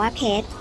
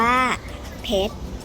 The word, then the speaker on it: เพชร: เสียง แต่ ส่วน ใหญ่ ไหม ออก เสียง ตัว สะกด ตัว ที่ 2 นะ คะ คือ รอ เรือ เช่น เพชร ถ้า ถาม ว่า เพชร อ่าน ว่า เพชร เด็ก ๆ สุด ออก เสียง ไป พร้อม กัน